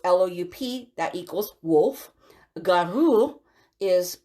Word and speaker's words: loup: so loop it's spelled loop which but it's pronounced lu so it's loup that equals wolf garu is shape shifting so